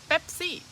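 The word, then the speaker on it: เป๊ปซี่: syllables how about Pepsi Pepsi Pepsi now did you notice it's not a p it's a BP kind of a explosive Pepsi and Coke Coke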